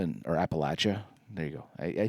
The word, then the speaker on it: Appalachia: they go to the poverty sections of uh Appalachia and or Appalachia. There you go. I I see I keep I kept correcting myself how to say it and I just said App Appalachia. It's I it's Appalachia from and uh it's a it's a it's